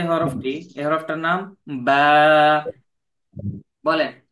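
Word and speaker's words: ب: ঠিক আছে, তো এই যে শুকনা অংশ, এই শুকনা অংশ থেকে বা হরফটি উচ্চারিত হয়।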